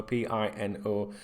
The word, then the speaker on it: Pino: His first name is Yeremy, Yeremy, and his surname is Pino, Pino. The Yeremy can be spelt with an I instead of a Y sometimes as well.